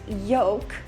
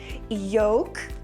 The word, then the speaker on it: yolk: I pronounced the word yoke with an L sound. I said yoke. But some people say that it's more correct to pronounce it with a silent L sound. Yoke or yoke.